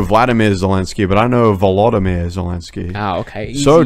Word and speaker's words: Volodymyr: Because you weren't saying it correctly. It's actually Volodymyr. It's like that. Ah, okay. So what did I say? Vladimir.